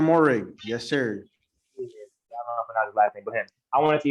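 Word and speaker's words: Moehrig: uh is it washington it's like morehead oh trayvon morrig yes sir i want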